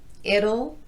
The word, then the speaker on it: it'll: two things going on there's a slight vowel before the L and the t is tapped so it's going to sound more like a light quick D sound let's look at those